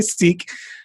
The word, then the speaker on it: Sikh: to my sikh brother actually pronounced sick but i never say sick because most people don't know what i'm talking about when i say sick so i say seek sitting next to my